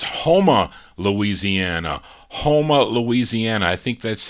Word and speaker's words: Houma: typed that in yeah houma louisiana i said huma because it's spelled h-o-u but you see just because it looks like that doesn't mean that's how it sounded that's how it is